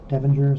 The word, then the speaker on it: Devinger: And Devinger is correct pronunciation.